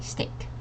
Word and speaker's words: steak: because it looks like STI but it's actually steak okay all right next one how would you pronounce this word jger great mhm great yes